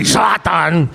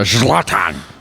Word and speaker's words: Zlatan: Today, we have the, how do you pronounce it? Zlatan. Zlatan. No, you got to say Zlatan. Like you're eating a sausage or Zlatan.